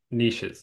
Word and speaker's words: niches: people were talking about niches or I'll call them niches because it rhymes with riches um uh and like